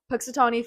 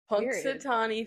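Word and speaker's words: Punxsutawney: Imagine um Pixatani Phil singing holiday ac cappella. Whoa. His name is spelled crazy. P U N X S U T A W N E Y Phil. Punk Satani Phil.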